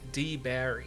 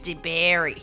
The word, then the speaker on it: DeBary: Florida yeah and okay DeBerry Florida it's spelled DeBerry d d e b a r y DeBerry but you pronounce it like d apostrophe Berry DeBerry to look up